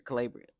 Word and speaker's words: Calabria: And this is Casey and Al and she tells Alabria that um it's not Alabia, Calabria. I keep getting her name wrong.